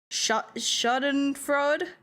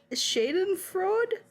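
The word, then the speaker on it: Schadenfreude: Shuten fraud. Hey, what is this word? I'm not good enough. Shaden fraud. Spell it. S C H A D E N F R E U D E.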